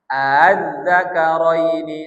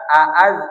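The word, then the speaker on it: آلذَّكَرَيْنِ: Tashil itu apa? melemahkan suara Hamzah yang kedua. Melemahkan suara Hamzah yang kedua. Ini kan aslinya ini Hamzah asli, ini Hamzah wasal. Aazzaka zakarain. Jadi hamzah keduanya dilomahkan. Azzakaraini 1 2 3. Yang satu a, yang kedua a a a. yazakarizakarini jangan dibaca aaz salah tapi yang satu jolas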